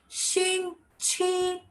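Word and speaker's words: 星期: Shing chi. Now X and Q both different pronunciations. Shing chi. It's going up.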